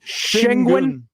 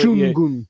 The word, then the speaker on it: Şengün: Yeah, apparently one of those accent marks at the end means that syllable is a little shorter, but goon is how you say it, but you got to say it quickly.